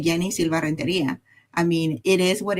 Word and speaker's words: Yeni Silva: A lot of people try to change the way they pronounce the name depending on where where they are. I say it I say Yenni Silva.